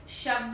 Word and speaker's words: शब्द: शब्द, शब्द, शब्द, शब्द, और मैं बोल क्या रही हूं? शब्द। श पूरा बोल रही हूं, द, द, ब थोड़ा बोल रही हूं।